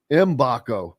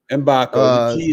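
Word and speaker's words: Mgbako: pronounced it m m mbac mbac just like a silent G mbco okay just like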